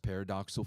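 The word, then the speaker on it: pyridoxal: is we're using this long sounding name it's pronounced paradoxal 5 phosphate or we just simply call p5p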